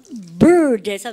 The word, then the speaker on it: bird: Look at the bird에서 그러니까 R 발음 하셨죠?